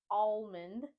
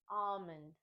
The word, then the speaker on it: almond: don't want to say alond we want to say almond in this word the a sound similar to words such as Olive and ostrich Omen Omen the second